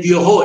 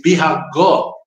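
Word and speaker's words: Biohó: Bencos no es Biojo, es Bihagó, es como se pronuncia.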